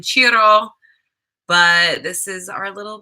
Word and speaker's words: Ciro: We're going to name him Ciro. It's probably actually pronounced in Italian Ciro, but this is our little baby boy.